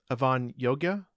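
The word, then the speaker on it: Avan Jogia: Avon gorana is that you say his name Avon Yoga Yoga okay yeah as Leon anyway I think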